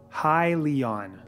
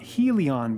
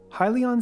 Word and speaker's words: Hyliion: will change from Sh ll to hy Ln hi Leon not he Leon by the way which I've been hearing a lot of people mispronouncing side note if you don't know how